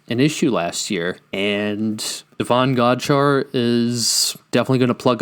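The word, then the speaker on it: Davon Godchaux: I've heard a lot of people mispronounce the name. It's Devon Godshaw.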